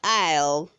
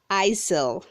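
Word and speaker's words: isle: verb 213 says i'll say i'll not isil the s is silent verb 214 says illegal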